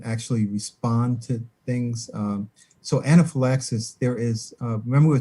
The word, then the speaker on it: anaphylaxis: Now the story said that she came down with something called anaphylaxis. Yeah. How am I pronouncing it correctly? Anaphylaxis.